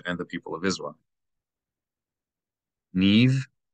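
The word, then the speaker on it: נִבְרְאוּ: If you have two shavas in a row, the first shava is silent, meaning it's not a short vowel. It's no vowel, the absence of a vowel. Niv, niv, not nivit, but niv.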